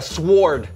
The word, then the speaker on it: sword: Okay, I'm gonna go with a sword. Okay, the W is silent.